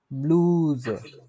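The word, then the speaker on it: Bluse: হচ্ছে দি ব্লুজে বলে, দি কি বলেন তো, ব্লুজে, দি ব্লুজে। এই যে একসাথে উচ্চারণ কিভাবে করতে হবে, কোনটা আগে কোনটা পরে, ব্লু তারপর কি আছে জে, ব্লুজে।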